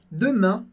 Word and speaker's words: demain: Primeiro de tudo, em demain, a gente tem primeiro o som E, a letra E sozinha tem o som E, por isso eu digo demain, demain. E a segunda parte da palavra, a gente tem o som an, que é um som nasal, que a gente não